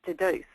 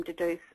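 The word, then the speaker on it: Dedoose: analysing each contribution in an online program called Deduce, and it's spelled D-E-D-O-O-S-E.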